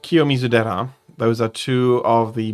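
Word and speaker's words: Kiyomizu-dera: And now that I know what she's talking about, I can pronounce them properly. That is King Kakuji and Kiomizera.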